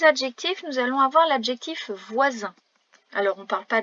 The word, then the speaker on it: voisin: Attention tout de même au son Z, qui est écrit avec un S entre 2 voyelles.